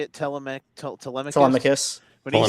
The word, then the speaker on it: Telemachus: Telemachus.